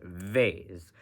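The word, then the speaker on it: וית: mind for this letter if it's got a DOT it's B with a B if it's if it doesn't have a DOT it's V with a V so offensive CL Island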